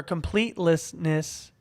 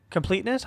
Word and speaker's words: completeness: Completeness goes or completlessness. Completeness. I think it's Yeah, I I put an extra syllable in there.